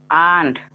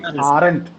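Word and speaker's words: aren't: ಆಂಟ್. ಆಂಟ್. Very good. ಆರಂಟ್ ನೀವು ಮಾಡ್ಬೋದು, ಏನ್ ಪ್ರಾಬ್ಲಮ್ ಇಲ್ಲ. But exact pronunciation is ಆಂಟ್.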